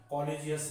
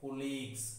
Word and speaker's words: colleague: इसका प्रोनाउंसिएशन थोड़ा ध्यान दें, कॉलेजियस नहीं बोलेंगे, इसको क्या बोलते हैं, कुलीग्स।